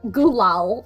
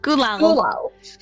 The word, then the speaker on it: Gulal: So we said Gulal is how we say it. Gulal.